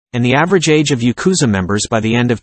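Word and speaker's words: ヤクザ: the worst hand in the game is 893 pronounced Yakuza in Japanese which equals 20 in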